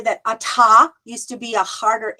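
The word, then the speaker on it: אתה: who knows but anyway we don't pronounce the hay at the end anymore okay the next one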